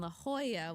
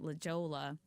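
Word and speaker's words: La Jolla: lunch one day in La Hoya which I finally stopped calling it Lola you know it is spelled like Lola and we were having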